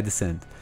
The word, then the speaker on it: Descent: The Novacat said, "Yeah, descent. That's how you pronounce it, descent.